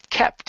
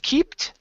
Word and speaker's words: kept: your last one is the word kept instead of keeped okay this is a short e sound are kept away from